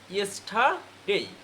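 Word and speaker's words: yesterday: Next হচ্ছে তোমার আমরা যেটাকে বলতাম ইয়েস্টারডে, ওই রর উচ্চারণ হবে না, কি হবে? ইয়েস্টারডে।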